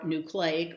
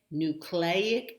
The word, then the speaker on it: nucleic: know anything like that they tend to say cli where as most speakers in our area are going to say clay either one is acceptable so you can say nucleic acid which is the way i learned it and hear it i think most often but you can also say nucleic acid i guess that